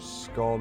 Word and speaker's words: scone: pronouncing it wrong it works on the same rules of stone you don't pronounce it Stone do you say Stone so it's scone I think scone is